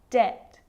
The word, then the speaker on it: debt: subtle debt and doubt so see in all of those examples my lips aren't closing and coming together to form the b sound i'm just pronouncing the t subtle debt and doubt now the letter c